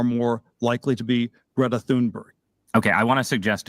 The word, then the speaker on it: Thunberg: To me, it's very upsetting that people mispronounce Greta Thunberg's name. Thunberg. Right? Now, there are plenty of people who are also called Berry at the end of the name. It's Berg, Berry, it's the same thing.